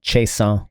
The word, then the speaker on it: Chiasson: Oh, by the way, for all of you non-French speaking people, it's pronounced Chiasson, Paul Chiasson.